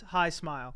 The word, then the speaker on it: Hismile: But was it called High Smile? It's High Smile cuz it's a tooth toothpaste. I mean, it's spelled his Well, there's fries in the way.